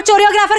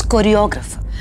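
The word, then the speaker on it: choreographer: Pinky, it's कोरियोग्राफर। This is the correct pronunciation. तू गलत बोल रही हो पिंकी।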